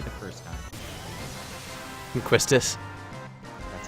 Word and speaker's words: Quistis: don't like doing the randomness of getting the Quistis card, or the Castis card. That card is the most You broken pronounced thing it in the game. correctly the first time. Quistis. That's how I've always pronounced it.